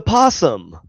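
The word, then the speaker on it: opossum: No, because you No, because the O is silent. It's a possum.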